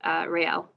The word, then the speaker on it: Rael: Hannah, and again, I might butcher it. I apologize. Rael. You pronounced it totally fine.